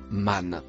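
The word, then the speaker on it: من: Le mot en bleu ciel se prononce man. Définition du mot man dans Sourate 79, verset 37.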